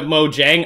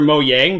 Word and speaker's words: Mojang: launching i've got the mojang or mo yang depending on how you pronounce it studios thing coming up